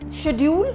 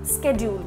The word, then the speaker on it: schedule: not archieve it's archive schedule schedule both the pronunciations are correct one is American another one is British so no worries about